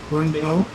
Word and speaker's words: bánh bèo: Bánh bèo. Bánh mềm. Bánh bèo. Yeah, that's right. Eo, not ow. Bánh bao is a different thing.